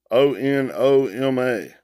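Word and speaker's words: ὄνομα: 3686 it's a anama o-n-o-m-a i've always pronounced it just a noma but the blue layer is onoma here it is strong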